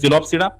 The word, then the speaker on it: Psilopsida: Then second, P is silent, it is called as Psilopsida.